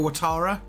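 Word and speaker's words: Ouattara: out who it is it or Tara is that how you pronounce his name yeah Dango watara didn't play at the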